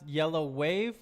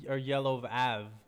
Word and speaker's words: Yellawave: love that yeah um did you want it to be pronounced yellow wave or yellow of ave like when you first thought yeah well at first it was it was uh my name was just gonna be like yellow ave okay separately but then